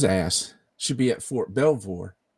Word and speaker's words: Belvoir: Did I pronounce that right? Belvoir? Fort Belvoir, yep.